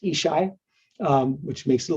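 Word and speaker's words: ESSHI: Supportive Housing Initiative um es shites uh I've learned it's just pronounced ishai um which makes it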